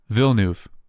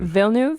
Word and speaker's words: Villeneuve: kind of close so it's Denny vilnuf so just vilnu vilnuv yup just like right because I